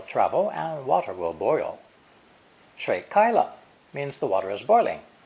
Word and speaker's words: 開: removing a wooden beam barring those double doors is an important verb pronounced kai which can refer to open